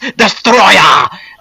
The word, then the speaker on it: Destoroyah: Now, you may want to pronounce this guy's name as Destoroyah, but it's actually pronounced Destoroyah!